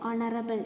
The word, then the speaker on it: honorable: An honorable person. Here H is silent, honorable, H is silent, so we used an because here comes a vowel sound.